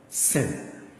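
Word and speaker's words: שׂין: This is sin. Sin. You see this dot here? Sin. It is pronounced as sin. Anytime you see this with a dot here, it is pronounced as sin.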